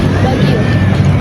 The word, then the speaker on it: Baguio: Ano ba pronounce non? Baguio. Baguio? Baguio.